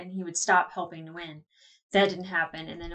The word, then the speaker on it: Nguyen: But like that, and I know I keep saying Nguyen, and I think it's Wen.